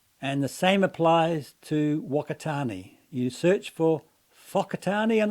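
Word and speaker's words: Whakatāne: And then they're told to pronounce words like Wakatani with an F sound, as in Whakatani. In other words, pronounce them differently than how they're spelt.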